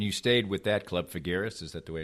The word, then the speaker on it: Figueres: And you stayed with that club, Figueres, is that the way it's pronounced?